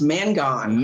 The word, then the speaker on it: Mangone: that last name pronounced it's pronounced man gone man just like you well how has your